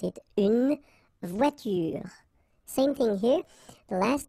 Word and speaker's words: voiture: It's à la fin d'un mot, at the end of a word, then you shouldn't pronounce this like here, une voiture.